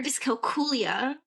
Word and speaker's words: dyscalculia: Um Then um dyscalculia, or dyscalculia, is how you would pronounce it.